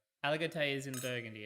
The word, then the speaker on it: Aligoté: How do you spell it? Petitmeslier. Oh, That's yeah. What about Burgundy. Alagote? Aligoté is in Burgundy.